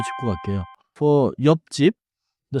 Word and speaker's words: 옆집: for 옆집. The spelling is 옆집. But in natural speech, it sounds tight. Close to 옆직. 옆집.